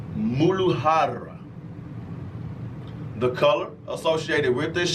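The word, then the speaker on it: मूलाधार: The Sanskrit word is pronounced Muladhara.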